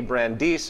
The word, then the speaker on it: Brandeis: Brandeis, I believe is how you pronunciate it, we can have democracy in this